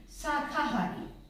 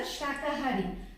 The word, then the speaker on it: शाकाहारी: Here I have seen many students, they used to write it sakahari, and they while pronouncing they just say ki sakahari, but they used to write it sakahari, but it's a wrong. The correct one is a shakahari.